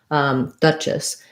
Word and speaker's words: duchess: So it's not a sh sound, it's a ch. Duchess. And then the letter E is going to be an I sound there, and the two S's tell us the S sound. So it sounds kind of like the word Dutch, like the from the Netherlands, Dutch, duchess. Long here and short here.